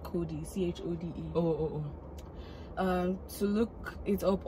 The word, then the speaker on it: Chode: Then she drops the name on me, pronounced Cody. Oh, but of course, it isn't spelled that way. She had to put her twist on it to make it special. She's spelling it CHODE.